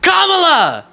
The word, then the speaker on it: Kamala: Harris and Joe Biden Kamala is the pronunciation go and well in